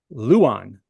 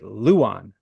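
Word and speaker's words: Luján: his name love it alandro Luan and that's how they that's how they told me to pronounce it Luan l u j an from West Virginia this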